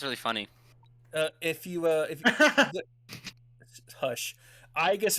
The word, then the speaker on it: Aigis: Aigis is actually how you're supposed to say it in Greek. Aegis is Latin.